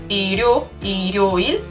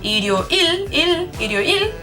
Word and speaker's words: 일요일: So 일요일 has 를 in the first syllable and in the last syllable, and in the first it is pronounced as 르, 일요일, because it is between the sound I and 요. And then at the end, 일요일, it is pronounced as an L because it is at the end of the sentence.